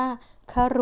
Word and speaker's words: ครุ: คะ ต่อ ไป อ่าน แบบ แรก อ่าน ว่า ครุ หมาย ถึง ภาชนะ ชนิด หนึ่ง มี หู หิ้ว ใช้ ตัก น้ำ และ ก็ อ่าน ว่า คา รุ หมาย ถึง ครู หรือ ว่า แปล ว่า หนัก